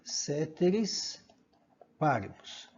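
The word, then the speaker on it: caeteris paribus: Então é isso que quer dizer a palavra, escreve coeteris paribus, mas se pronuncia ceteris paribus. Tá? Você vai ver a grafia também escrita só com E, ceteris paribus.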